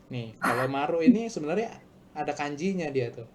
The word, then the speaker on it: Marui: Oi oi kan kan kan kelihatannya kayak oi oi ya bacanya. Tapi ternyata dibacanya tuh Marui gitu loh.